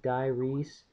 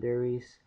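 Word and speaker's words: Die Rise: yeah and I'm also looking forward to uh diyes that's actually how it's pronounced it's not dures I thought it was dures the first time I took a look at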